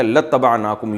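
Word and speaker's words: لَاتَّبَعْنَاكُمْ: असल में था इबाना तो हम इत्तबा करते तुम्हारी लाम ताकीद के लिए तो अलिफ साइलेंट हो गया। लतनाकुम यू पढ़ा जाता है इसको।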